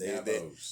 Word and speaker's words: NABO'S: NABO'S.